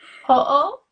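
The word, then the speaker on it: hoʻo: Ho'o? Ho'o? Ho'o. So it's H-O apostrophe O. So you say both O's.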